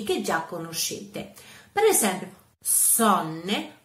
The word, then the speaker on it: Sonne: Per esempio, sonne. Sonne è una O aperta perché è seguita da due consonanti, quindi sonne aperta, mentre rot si legge